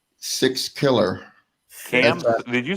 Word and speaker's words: Sixkiller: Sixkiller.